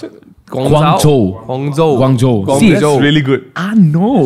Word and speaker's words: Guangzhou: Is that the right way to pronounce it? Guangzhou.